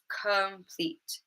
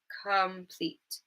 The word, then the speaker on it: complete: And we had it in complete, complete, complete. Okay, the first syllable.